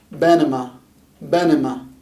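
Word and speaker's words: بنما: is this small country we have a b again followed by short a followed by an n on top short i this is an m by the way long a banima benema benema this is panama if you can tell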